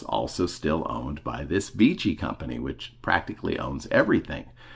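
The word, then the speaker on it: Vici: v i c i I'm saying beachy because I believe that would be the proper Italian pronunciation and Vichy has been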